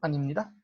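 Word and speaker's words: 아닙니다: Y cuando digo que no, digo animnida. Animnida es una mezcla de anio con ipnida. Anio, ipnida, animnida, ¿no?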